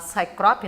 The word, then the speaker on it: Cycrop: Você é da Cycrop, né? Isso, né? A pronúncia é essa mesma? Essa mesma, é meio difícil, mas é essa a pronúncia mesmo.